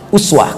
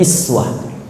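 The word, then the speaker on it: أسوة: Itu kalimat uswah, uswah, kata uswah, itu bisa dibaca dengan riwayat iswah. Iswah. Jadi ada dua cara baca di sini. Bisa uswah, riwayat Hafiz dari Asim, bisa iswah, riwayat Qalun Tawarish dari Nafi'. Jadi kalau kita baca laqad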